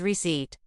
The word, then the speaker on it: receipt: tip, say receipt as receipt. Remember, the P is silent.